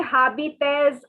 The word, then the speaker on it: habites: The second word is habit. So see, the H is silent and the S is silent. All right, guys. So don't say habites or habites or no other pronunciation. Please take your different colored pen and note down the pronunciation. It is habit. Habit. Like in Hindi we call beat. Beat.